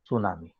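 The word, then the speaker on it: tsunami: सुनामी. T silent है सुनामी.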